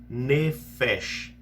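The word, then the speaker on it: נפש: Que no hebraico tem uma palavrinha que se pronuncia nefesh, né? Então, passou a ser alma vivente. Se pronuncia aproximadamente nefesh, essa é a pronúncia aproximada da palavra.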